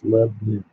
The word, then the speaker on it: Lebanon: It's 2 syllables, Lebanon.